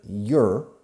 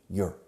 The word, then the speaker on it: you're: I'm the teacher, you're. Fijaos por favor en esta pronunciación porque los españoles pronunciáis mal diciendo your. You are the student. Contraction, you're. Es como una I latina.